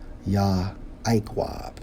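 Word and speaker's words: יעקב: Hebrew for Jacob 3290 pronounced as yah iqwab which means heel holder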